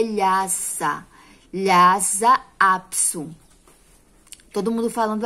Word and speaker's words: Lhasa: Lhasa. Esse S aqui, ele tá com som de Z.